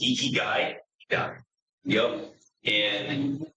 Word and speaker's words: Ikigai: It's Ikigai.